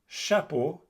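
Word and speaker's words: chapeau: CH in French is pronounced like SH in English. For instance, chapo which means hat.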